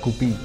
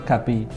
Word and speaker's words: guppy: u itu menjadi a bacanya tetap gupy tetapi untuk internasional itu dari mana itu Gaby kita sepakat semua Indonesia gapi atau guby masih oke tapi yang bener gapi bukan Gaby juga itu dari mana itu